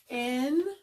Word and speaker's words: engare: So it's not a sharp K sound.